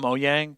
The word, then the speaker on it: Mojang: I forgot because when they switched from um I know it's called Moyang, but I'm going to say Mojang because I'm not going to say it like that.